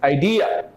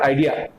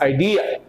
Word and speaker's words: idea: to be stressed here this is idea it's not idea it's idea so the bright ideas always